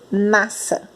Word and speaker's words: nasça: Nós falamos nasça. Nós não falamos nasça. Então, aqui a gente não consegue ouvir o som do S.